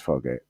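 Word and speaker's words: Fargeat: I think it's Fargay because I think she's French, and it's. I think usually T's are silent in those, aren't they?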